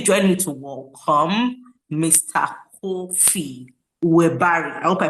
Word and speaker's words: Korfii: Kofi were I hope I pronounced your name right, Mr. Kofi. Or is it Kofi? Yeah, coffee. I think you did pronounce well.